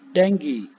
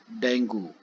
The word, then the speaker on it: dengue: the dengue virus first of all the the pronunciation of the word is it dengue or dengue yes it is the dengue not dengue the dengue virus belongs to a group of